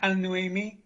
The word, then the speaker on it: Al-Nawami: Yeah, I mean, just to be helpful, Chair, it's Al-Nawami, a lot softer than people try to pronounce it. It's basically pronounced as written.